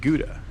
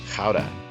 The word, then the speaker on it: Gouda: Some of you may pronounce it Gouda, like the cheese.